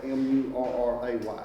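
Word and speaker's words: Mary: Murray's name wasn't spelled, I'm not mispronouncing it, it was spelled M-U-R-R-A-Y. Yeah, Yeah. So, but if it was M-A-R-Y, I'd still say Murray, because that's the way we grew up here in Yeah, Brasstown. My Murray. sister's name's Murray, but it's spelled with an A. M-A-R-Y.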